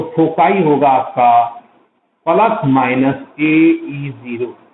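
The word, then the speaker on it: foci: कई बार इसको अलग अलग बंदे, कोई खौकी कह देता है, कोई फकाई कह देता है, ठीक है, थोड़ा प्रोनाउंसिएशन में differ person to person differ करता है।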